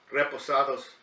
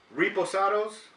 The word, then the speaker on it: reposado: be talking about this reposado tequila it's it's pronounce it correctly the Reposado it's not repo Sorrows cuz on this channel